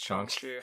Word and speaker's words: Shang-Chi: Shang-Chi. Yeah. I've been saying it right this whole time.